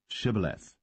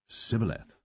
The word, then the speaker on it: shibboleth: said they unto him say now shibboleth and he said sibileth for he could not frame to pronounce it right then they took him